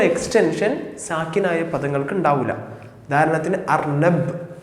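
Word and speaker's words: أرنب: ഉദാഹരണത്തിന് അർനബ് എന്ന് പറഞ്ഞു കഴിഞ്ഞാൽ അർനബ് കഴിഞ്ഞു.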